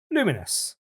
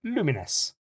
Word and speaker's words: Lumines: devs, it certainly pronounce Luminous, as in a bit like Luminos, as in luminosity kind of thing, but Luminous.